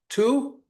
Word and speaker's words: To: How do I pronounce your last name? Tu. Don't just say yeah. Is that how it's pronounced? Okay. Two.